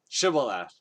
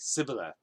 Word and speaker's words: Shibboleth: And so they had the whole like linguist test, like, pronounce this word, Shibboleth. And then the Ephraimites probably don't have, like, their accent is different, so they probably say it like Sibboleth, right?